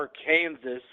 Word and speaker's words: Arkansas: declaring the state's name should be spelled or AR Kansas but pronounced Arkansas um yeah that's great so Mitch